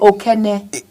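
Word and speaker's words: Okene: I don't is it I stop pronouncing it wrong it's oken I saw here so I don't know that's what I'm reading you Just you're just bullying people from Kogi.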